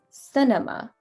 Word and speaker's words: cinema: You're gonna make that A UH sound, the E a UH sound, and the I the IH sound. Cinema.